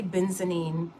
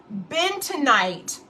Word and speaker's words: bentonite: I keep wanting to say benzenine. It's not. It's bentonite. Bentonite clay is widely known